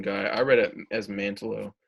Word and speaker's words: Mantlo: Mantio or Mantlo? Mantlo.